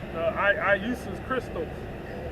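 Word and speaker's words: Ἰησοῦς Χριστός: Iusus Christos. And that's how you say it in the Greek.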